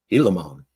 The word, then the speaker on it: Gilamon: I was all over that G. I was pronunciating that G hard. Gilamon. Till you phonetically sounded it out for me with the H-E-E-E.